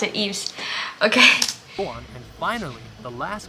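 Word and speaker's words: Yves: From November to March of 2018, Eves, Chu, Okay, so that's how you pronounce it, Eves.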